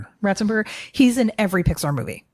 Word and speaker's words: Ratzenberger: I wasn't really looking for it because John Rathensperger, is that how you say his name? Ratzenberger.